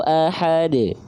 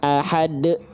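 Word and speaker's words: أحد: Pantulkan, tapi jangan ditahan. Ajramu, qul huwallahu ahad, bukan ahad. Ya, karena kalau pantulannya tertahan seperti itu, teman-teman seolah sedang menambah huruf baru.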